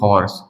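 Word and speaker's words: horse: सिर्फ एक चीज को छोड़कर, जैसे लिखते हैं हम लोग हॉर्स। हॉर्स में यहाँ ओ के साथ में एच साइलेंट नहीं होता है, बाकी की एच साइलेंट होता है सभी में।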